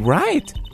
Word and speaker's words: Wright: Ich bin Wright. Wright schreibt man mit W, spricht es aber nicht, okay?